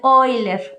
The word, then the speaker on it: Euler: muy famoso es el número de oiler o como se escribe Euler este también es un